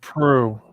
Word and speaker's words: Pro: Pronounced Pro. It's pronounced Pro. Pro. Okay. Pro. Very cool. Kind of a French.